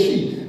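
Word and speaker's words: Xi: They actually met, she and all them, they pronounce it as she.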